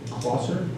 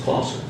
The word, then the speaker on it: Clouser: Steve Klosser, did I say that right? It works. How close was that? Well, it's pronounced Clouser. Some people say Clouser.